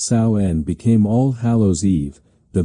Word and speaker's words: Samhain: The pagan festival of Samhain, pronounced Samhain, became All Hallows Eve, the vigil before All Saints' Day.